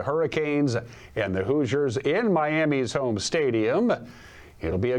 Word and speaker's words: Miami: Number 10, Miami. Well, that's how they say it in the South, Miami.